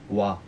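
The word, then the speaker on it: は: 왔다시 와 왔다시 와 시강 데스 할때 쓰는 와입니다. 하예요. 한데 소리 날 때는 와라고 읽습니다. 하예요.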